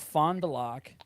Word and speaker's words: Fond du Lac: Don Gorski of Fond du Lac. I forgot how to pronounce it. Fond du Lac.